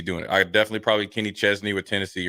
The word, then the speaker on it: Kenny Chesney: It's Kenny Chesney, right? Yeah, Kenny Chesney.